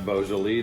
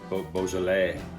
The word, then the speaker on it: Beaujolais: in a red wine a big fan of beausole Nouveau Beaujolais Nouveau while we're on in the business of pronouncing things correctly Nouveau so this is some